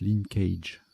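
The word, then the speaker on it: linckage: Bon, ça se prononce linkage.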